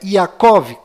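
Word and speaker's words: יעקב: mudo no final e Jacó que na verdade é yakov com ver mudo no final e a letra Y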